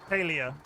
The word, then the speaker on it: Palia: Dolly was laying across my arm while I was playing Paria last night. Didn't care that I was fishing. Feels nice. Palia.